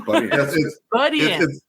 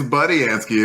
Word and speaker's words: Budiansky: Yeah, and corrected us on how to pronounce his name. Budiansky. It's Budiansky. If you ever said Budiansky like I just did, you're wrong, and you should flog yourself for being incorrect.